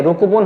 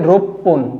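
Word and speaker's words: 六分: যুক্ত হয়ে যাবে তারপরে গোফন রুকু না হয়ে রুকুপুন হওয়ার কথা ছিল কিন্তু রুকু না হয়ে এটা যুক্ত হয়ে যাবে উচ্চারণটা হবে রুপপুন রুপন মানে ছয় মিনিট আট মিনিটের ক্ষেত্রে হবে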